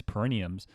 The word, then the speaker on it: perineum: I was like, I am saying it right. I am pronouncing it right. Perineum. That's how I say it. I know people say it slightly differently.